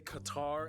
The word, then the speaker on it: Qatar: host barbs full disclosure it's actually fully acceptable to say Qatar as well okay thank God CU you know over time most people kind of just messed up the pronunciation and the locals are just kind of like let's just go with it in any case C